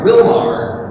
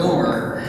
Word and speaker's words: Willmar: And then, of course, I come out here and I was calling it Willmar the whole time. It's apparently Willmar.